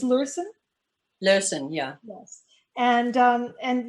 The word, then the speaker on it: Lurssen: us all and i'm not even sure i'm pronouncing your name right that's the problem with online friends uh it's lursen yeah yes and um and yeah i i